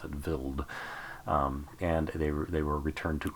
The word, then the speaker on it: Wild: That's how you pronounce it, Wild.